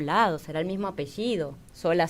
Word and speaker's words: Solá: Y en realidad venimos, me imagino, del mismo lado, será el mismo apellido, Sola, Solá. Pero Solá sí lleva tilde, ¿eh?